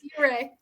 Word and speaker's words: Ouray: You're close. You're close. Yuray. And that's o a y.